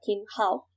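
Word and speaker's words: 青蒿: En chino se pronuncia Qin Hao, y que su nombre científico es Artemisia annua,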